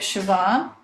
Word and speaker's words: Siobhan: vote on okay um hopefully I'm pronouncing this right sioban did I do that right hold on